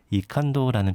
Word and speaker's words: 이칸도: 그런 활동가분들이 필명을 많이 써서 저도 고민하다가 이칸도라는 필명을 생각했는데 네. 영어로 하자면 I can do입니다. I can do. 네, I can do를 독일식 발음으로 읽으면 이칸도 이렇게 읽히더라고요.